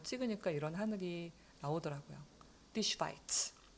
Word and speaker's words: Schweiz: Die Schweiz. 자, 이게 A가 아니고 I 발음이 난다. 그 다음에 나중에 우리 공부하겠지만은 SH는 쉬 발음이 나요. 그래서 Die Schweiz다.